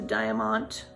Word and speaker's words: Diamant: You can knit any of these designs without the Diamant, that's how you say it, without the Diamant thread.